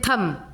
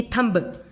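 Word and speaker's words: thumb: थंब, वैसे ही थम, इसको बोलते हैं थम, नहीं कि थंब, ऐसे नहीं बोलते, थम, B का प्रोनाउंसिएशन नहीं हो रहा है, ठीक है।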